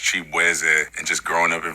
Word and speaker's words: Chibueze: I'm Nigerian American, so my last name is actually pronounced Chibueze. And just growing up in Virginia, like everybody just did not know how to enunciate my name. So they was just like, Shaboozey.